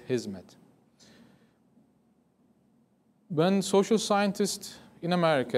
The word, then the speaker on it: Hizmet: before because of that people call it his mat in Turkish it's in it's an Arabic word that we use in Turkish from hadima in Arabic which means service what we pronounced as hizmet when social scientists in